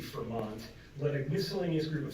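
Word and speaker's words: Frémont: There's a question about how to pronounce his name. It's Fremont.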